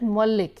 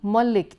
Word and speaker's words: Malik: My surname Malik is pronounced as Malik here, and when I hear that I feel uncomfortable, and I have to keep reminding them it's Punjabi Malik, it is not Bengali Malik, please don't call me Malik, it is Malik.